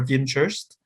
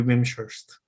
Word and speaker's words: Wimshurst: I believe it is an English name, so it's either Wimshurst or Wimshurst. If it's English, it should be Wimshurst.